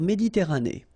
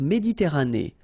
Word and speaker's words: Méditerranée: La mer Méditerranée. Okay, here final not pronounced, but then you pronounce this E at the end. Méditerranée.